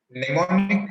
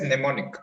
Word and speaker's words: mnemonic: doesn't improve your lesson mnemonic improves your memory right this is pronounced as mnemonic m silent mnemonic so what is